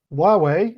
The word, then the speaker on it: Huawei: door pronounce those okay so why Wei is pronounced Huawei and Xiaomi is shall me I don't particularly understand